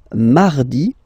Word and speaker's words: mardi: Then mardi, mardi. So you can hear that you don't pronounce it that strongly, this R.